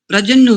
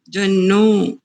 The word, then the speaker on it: पर्जन्यो: परजन्यो जन्यो जन्नो आप जन्नो कर रहे हैं। जन्नो ये को की मात्रा जी, जन्यो प्रजन्नो अभी ठीक नहीं है। ये का उच्चारण सुनने में कुछ ऐसा होता है। परजन्यो या सुनो ध्यान से, पहले सुनो। परजन्यो परजन्यो यो परजन्यो। अब ठीक है।